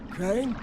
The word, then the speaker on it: Crane: no my name's crane crane crane rhymes with train and brain and S and Grain